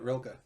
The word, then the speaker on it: Rilke: Um, and Bukowski, and then Rainer Maria Rilke. I don't know how you pronounce it. Yeah, you got it, Rilke.